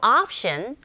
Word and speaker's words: option: There's no option but to turn around. 옵션이 아니라 아 철자 오에 강세가 가는 경우에 오가 아닌 아에 가까운 발음으로 들리고 발음한다는 거 아시죠?